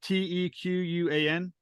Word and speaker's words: Tequan: saying it correctly uh which one uh um t-e-q-u-a-n Tequan yeah it's a Quan and I believe